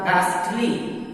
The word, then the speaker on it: ghastly: और फिर इसी तरह GHASTLY, तो इसका सही उच्चारण होगा गास्टली, H साइलेंट होगा।